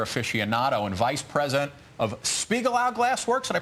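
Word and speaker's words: Spiegelau: a craft beer afficionado and vice president of Spiegel out Glass Works and I pronounce that correct correct Matt the the the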